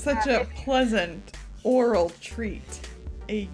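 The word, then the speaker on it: Aural: i could have said owl roll but that's not how you say it no no it's pronounced oral the same way as oral it's very confusing but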